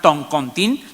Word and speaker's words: toncontín: Pero a veces encontramos toncontín o tocontín, etcétera, etcétera.